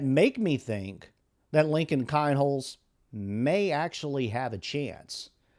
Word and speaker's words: Kienholz: Now it seems that he's got some competition as Lincoln Kinholes or Keenholes. I've heard it pronounced in both ways but I'm going to go with Kinholes.